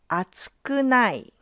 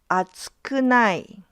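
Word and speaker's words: 厚くない: For group two, it's pronounced as atsukunai. atsukunai So, here the pitch pattern is different.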